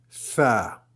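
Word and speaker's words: ث: Et la suivante, Sa. Sa, la meilleure façon de le prononcer peut-être, c'est mettre la langue sous les dents et dire se, like ça. Donc la langue contre les dents supérieures. Ça.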